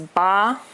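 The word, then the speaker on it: bā: in Roma pinion Chi eight is ba first tone seven seven is also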